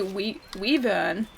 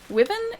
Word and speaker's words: Wyvern: There's a Y there. You have to pronounce the Y. Otherwise it's not Wyvern. If it was Wyvern, it'd have to be W-I, not W-Y. That's not the right way to say it.